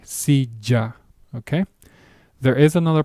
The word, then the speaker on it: silla: Either way, it's a hard J, silla, okay?